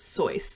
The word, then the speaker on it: Seuss: If you didn't know, listeners, his name was pronounced Soy. That's how he pronounced it, which is so weird because it's also not his real name.